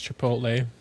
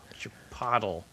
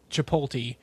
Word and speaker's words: Chipotle: to read words and Chap Chipotle was one of them. like chapat chapatle chapatle. It's like I remember